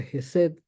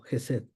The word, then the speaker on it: Chesed: esta presentación se pronuncia jesed algunos inclusive lo ponen como si fuera una J otros como si fuera un H nada más muda Eh entonces lo estoy pronunciando como jesed verdad una de las